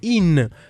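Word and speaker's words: ihn: Das Buch gefällt ihm, c'est pour le R, donc ihm qui s'écrit I-H-N. Pour l'accusatif, c'était in.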